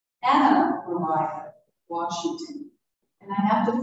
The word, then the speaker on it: Maria: i've since learned from the washington family that maria is pronounced mariah and her name she's there on the right anna mariah washington and i have